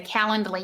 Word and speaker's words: Calendly: Stephanie asked, did I say Calendly? Yep, that's how it's spelled.